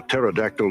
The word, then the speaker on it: pterodactyl: Why can you never tell when a pterodactyl uses the bathroom? Suppose is it because the P is silent.